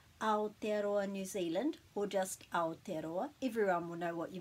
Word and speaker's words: Aotearoa: And then we put a break after each vowel. Aotearoa. Aotearoa, Aotearoa.